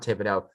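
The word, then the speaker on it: Thibodeaux: 2022 draft the new york giants select kayvon thibodeau see that's how he pronounces it like spills and then right here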